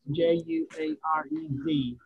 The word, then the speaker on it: Juarez: J-U-A-R-E-Z. And I know J is not pronounced in Spanish.